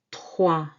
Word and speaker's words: trois: Trois. Trois. Trois. OE together, these two vowels, is wa. Trois. And this S is silent.